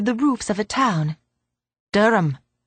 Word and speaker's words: Durham: But you said Durham. It's spelled funny. You can never tell with English.